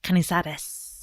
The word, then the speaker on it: Canizares: I really like saying her last name because my pronunciation in French is terrible, but I feel like my pronunciation in Spanish is really good. So Canizares, yes.